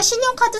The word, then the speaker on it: 信用卡: 어, 그래서 신용카드 써도 됩니까? 라고 물어보는 곳이 좀 많다네. 물건을 팔 생각이 없나 본데, 이거. 모르지. 여하간의 신용카드를 중국어로 알아야 된대. 잘 들어봐. 발음이 비슷해. 신용카. 신용카. 비슷하지? 신용카. 신용카.